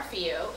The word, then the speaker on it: Fillault: All right, so my name is Fillault. It is French. My husband is French, but he's also American now. And you say it for those of you who are phonetically minded.